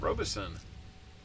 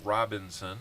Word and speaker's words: Robison: Robinson how's it going Robison I think I said Robinson and that's not how it's spelled I'm sure you get